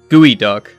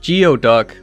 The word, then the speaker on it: geoduck: Gooey duck. No, that's not pronounced geoduck like it should be. It is, in fact, gooey duck.